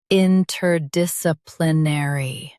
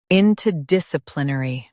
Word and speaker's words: interdisciplinary: U.S. stresses dis.